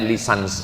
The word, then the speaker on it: licence: Bahasa bahasa Inggris cara membacanya lisans artinya ijazah.